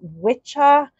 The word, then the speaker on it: Wicca: the rest of Wicca some will pronounce the Wicca as witcha which is uh like an older World pronunciation and all of those things are still correct they're just different variations of the same thing here this is the